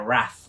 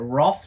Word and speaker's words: wrath: between dragons and their wrath or their Roth do you say Roth or wrath wrath do Americans say WTH I believe so uh I would say Wrath we are English and it's by Devin